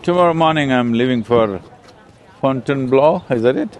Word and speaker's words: Fontainebleau: Sadhguru: Tomorrow morning, I'm leaving for Fontainebleau, is that it? How do you say that? Martin Nydegger: Fontainebleau, hmm? Sadhguru: Fontainebleau.